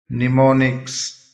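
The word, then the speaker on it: mnemonics: निमोनिक्स स्मरण शक्ति बढ़ाने की तकनीक निजा नेजा याददाश्त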